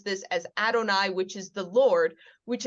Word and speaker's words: Adonai: When we see this, we will pronounce it as Adonai.